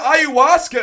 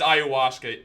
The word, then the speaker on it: ayahuasca: Am I pronouncing it right? It's ayahuasca. Ayahuasca, yeah.